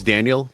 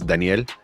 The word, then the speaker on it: Daniel: is like my name is Daniel but if you're speaking Spanish it's Danielle. Yeah. Um so it's just a matter of what language you're communicating in.